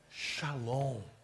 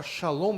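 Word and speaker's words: שלום: A pronúncia nesse texto seria shalom, mas a palavra é shalom.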